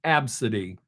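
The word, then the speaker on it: Abcde: making this up is a c d is pronounced absidy your parents oh I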